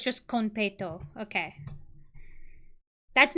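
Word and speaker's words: konpeito: wait she said it okay so it's just conto okay that's not how I REM I feel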